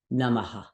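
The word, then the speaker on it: namaḥ: we have this word namaha it could be pronounced just namah or the a can repeat itself neither one is incorrect and sometimes it will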